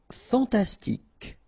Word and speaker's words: fantastique: Fantastique. Okay, Q-U-E at the end, K. Okay, tic. Fantastique.